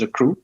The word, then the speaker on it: akru: Pronounces Accrue. You accrue your wealth over time, and you build that generational wealth.